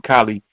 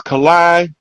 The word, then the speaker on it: Kai: say his name Kai he say his name Kai I I be pronouncing his name kie but it's Kai Alan ra um marvelous